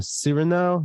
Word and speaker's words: Cyrano: it uh it's uh sereno sir now like as in serenade civil now steven now season two episode 23.